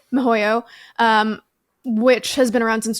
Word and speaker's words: miHoYo: Is that how you pronounce it? Yep, Mihoyo. Mihoyo, which has been around since 2011, so a little newer, but still around for a decade or so.